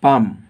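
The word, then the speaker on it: palm: कोडा रह जाउ छी पाम पढ़ुच एल को पढ़ा जाऊनी पालम पढ़ा जाऊनी साइलेंट के होची एल सो L Kota silent C option अछि 45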